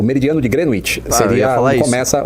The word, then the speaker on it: Greenwich: O meridiano de Greenwich seria onde começa o horário. Então, como a gente está 3 horas atrás, se não tiver horário de verão, do meridiano de Greenwich, é assim que pronuncia, Greenwich.